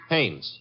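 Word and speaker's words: Haines: Hannes. H A I N E S. Oh. Oh, Hannes. Yeah. Do you know him? Well, there's a fellow named Hines used to fish. No, no, no, not Hines.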